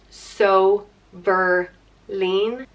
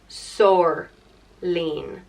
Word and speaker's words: Somhairlín: The next name is Somhairlín, and it means told by God, and it's either pronounced Somhairlín, or Sorlín, and it is spelt with a fada over the second I.